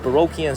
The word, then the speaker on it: Baroque: I'm guessing that means they're all built in an old Baroquean style. Okay, and I don't like that word Baroque, by the way. It rhymes with broke.